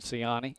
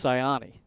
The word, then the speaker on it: Sayani: I would have said Sayani or Sayani, but it's Sayani. Subtle difference.